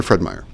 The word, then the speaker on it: Fred Meyer: out and there you go Fred Meyer brother Fred Meyer just to clarify there is no apostrophe us